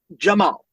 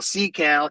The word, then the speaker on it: Cemal: So Jamal, Cemal is Jamal, is my name, right? But in kindergarten, no one could pronounce Jamal. It was Cemal, Cecal, Camel. Because it's spelled, Cemal, but then with the pronunciation. I love it because then people the C is like a J.